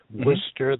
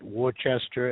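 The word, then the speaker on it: Worcester: have difficulty with that Worster they say they call it Worchester and gler glower it's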